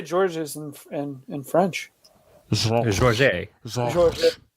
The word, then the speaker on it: Georges: Georges. Georges. Just take a swatch of peanut butter and put it on the roof of your mouth and then say the name.